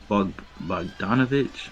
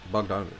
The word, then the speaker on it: Bogdanovic: Bogdanovich. I'm gonna mess up names. I'm not gonna get into it. No, you said it right. Bogdanovich.